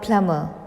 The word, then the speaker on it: plumber: But this B letter is silent in this word. इसका correct pronunciation है plumber, not plumber.